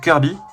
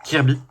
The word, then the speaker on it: Kirby: Vu que la prononciation de John Kirby, c'est Kirby. Hein, et pas Kirby.